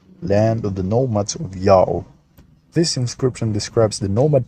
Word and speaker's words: Ya'oh: have these evidences that this name is pronounced yao how it is really